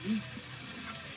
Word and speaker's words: needs: Yung start, everybody needs. Yung S needs. Lagyan mo ng S yun. Kasi magkakaiba kung need lang. Needs.